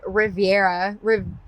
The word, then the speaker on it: Reverya: I am back with the drummer of Reverya.